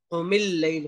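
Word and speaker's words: قُمِ اللَّيْل: जिस अलिफ की आवाज नहीं आ रही, जैसे अल्लैल, कोमिल लैल, कोमिल लैल पढ़ते हैं ना, कोमिल लैल, उसमें मीम के बाद लाम की आवाज आ रही है, अलिफ की आवाज नहीं आ रही, अलिफ साइलेंट है, तो उस अलिफ को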